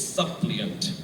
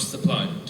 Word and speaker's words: supplant: were mispronounced for example it's supplant not suppliant suppliant and uh commodity I think